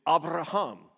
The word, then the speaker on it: Abraham: There's one letter emphasized in that whole thing, and I'm not trying to do it on purpose. It's the only way I can really figure out how to say it. It's Abraham, okay? You see that ha that comes out.